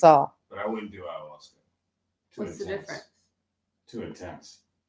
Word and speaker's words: ayahuasca: Is it called, how do you pronounce it? Ayahuasca? Ayahuasca. Ayahuasca.